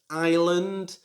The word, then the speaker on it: island: word should be pronounced island again the s is silent so don't say island